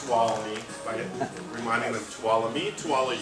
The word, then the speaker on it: Tuolumne: my tap and we teach them how to pronounce tuolumne by reminding the Tuolumne 12 you that's a